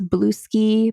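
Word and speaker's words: Bluesky: Sky a little bit, which I pronounce Blueski because it looks like someone's surname, Blueski.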